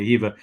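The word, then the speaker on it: Khiva: the town of Hiva spelled khi you don't pronounce the K Eva there's one camel her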